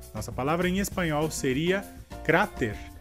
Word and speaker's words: cráter: No caso, em espanhol, a sílaba mais forte seria a primeira, cra, e em português seria a sílaba t.